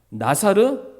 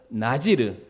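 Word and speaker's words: נזיר: 시간 말씀 기억 하십니까 나 사르 원래 정확한 히브리 씩 발음은 나 지르 그리고 그 나지 라는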